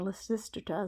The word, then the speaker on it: Lysistrata: So the comedy Lysistrata, or Lysistrata is another way to pronounce it, is going to make